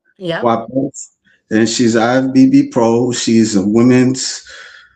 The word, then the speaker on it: Kwapis: Her name is Michele Kwapis, if I'm pronouncing it, Kwapis. Yep. Kwapis.